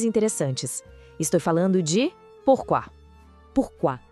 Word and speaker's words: pourquoi: Pourquoi. A pronúncia é pourquoi. Vamos com calma.